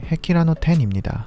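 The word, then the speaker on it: 碧羅の天: 일본어 발음으로는 헤키라노 텐입니다.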